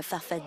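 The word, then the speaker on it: Farfadaa: want to clarify something your movement you call it farfada with two A's at the end but you pronounce it answer depends on who pronounces it I've always said I'm a fafade yeah answer okay I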